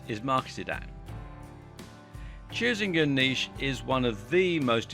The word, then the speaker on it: niche: need to do is to choose a niche, or niche as some people pronounce it.